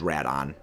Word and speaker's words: Rodan: radon Rodan yeah uh canonically rodan's got two uh two different uh pronunciations there is the West which is Rodan and the original Japanese which is Radine the reason why is